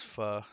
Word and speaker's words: pho: Uh, she likes going there for the fu. That's spelled pho. For those aren't um haven't had it or didn't know the pronunciation, it is fu, not fo.